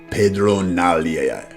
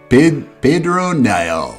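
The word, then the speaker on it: Pedron Niall: Pronounce this. Lord Captain Commander Pedro Nalia. What was that? Nalia? Okay. Niall. Pedro Niall.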